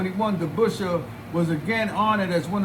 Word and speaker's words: DeBusschere: Although its Dutch pronunciation would have been closer to DeBusschere, Dave DeBusschere used an Anglified pronunciation of DeBusschere, by which he was also known.